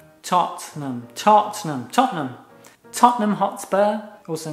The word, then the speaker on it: Tottenham: Porque ¿cómo se pronuncia? Tottenham. Tottenham. Tottenham. Tottenham Hotspur, also known as Spurs, or the neighborhood of Tottenham.